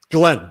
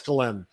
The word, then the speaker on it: Ghislaine: Is that how it's pronounced? Ghislaine, yes. I heard it from her father.